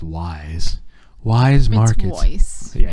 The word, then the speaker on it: Weis: like we shop regularly at Weiss apparently it's pronounced Wise Wise Market yeah it's Weiss it's wise [